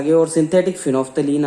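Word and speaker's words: phenolphthalein: PHENOL, PHTHALEIN, इसे बोलते हैं हिंदी में, लिख लीजिए फिनोफ्थलीन। अगर बोलने में नहीं आए तो मैं लिख देता हूं यहां इसका प्रोनाउंसिएशन, फिनोफ्थलीन, ठीक है।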